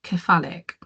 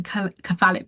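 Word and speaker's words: cephalic: I think I quite like khalic. So that means Yeah. Can you spell that for me, Kersh?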